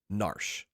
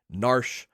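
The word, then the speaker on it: Narshe: The town is named Narsh. Being a prevoiceover game, there's some debate on how to pronounce it. Narsh. Nari Naria, but I grew up calling it Nar, so that's what I'm saying here today.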